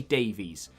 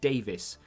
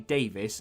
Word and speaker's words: Davies: to canada as well probably does they say davies but everyone else in the world is meant to be pronounced davis because it derives from hebrew and